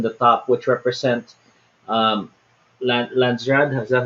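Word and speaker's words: Landsraad: But at the same time, you have other areas in the top which represent um, Landsrad, is that how you say it?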